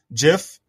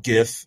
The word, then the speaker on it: GIF: Yeah, he called it GIF. It's actually GIF.